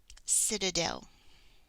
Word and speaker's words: citadel: a lowercase C Citadel do you hear the syllables in there sit Dell sit Dell Citadel there are three and it sounds like an S sit there's uh swa-- and then a shorty Citadel Citadel a Citadel is